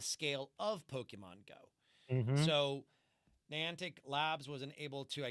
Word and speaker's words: Niantic: of n how do you how do you pronounce that Niantic Niantic Niantic Niantic lab business for $3.5 billion